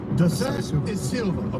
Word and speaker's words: Da Silva: How do I pronounce it? You did it very well. Da Silva.